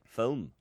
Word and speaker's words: film: always and i also i also say film as opposed to film i don't say fulham it's only one i say phone only one consonant uh no not uh